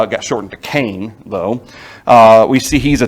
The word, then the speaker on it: Cain: versions of our bibles it's cayenne is how cain is properly pronounced in hebrew cayenne which i kind of thought was interesting you can see how it got shortened to kane though we see he's